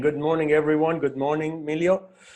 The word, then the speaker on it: Miliau: It took me an entire course to just to learn to say that was no Emilio, that was Milio.